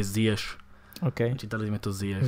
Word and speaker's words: Ziyech: Akurát, opäť som ho čítal zle, inak sa to vyslovuje Ziyech.